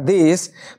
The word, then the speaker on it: the: মানে এটা অনেকগুলো প্রদেশকে নিয়ে তৈরি হওয়া একটা দেশ তার মানে তারা আগে আমরা বসাবো আর্টিকেল দি